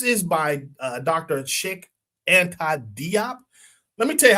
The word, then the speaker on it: Diop: Cheikh Anta Diop. Let me tell you how bad this is. It's It's pronounced Diop. One of my friends is Senegalese. Um it's pronounced Diop.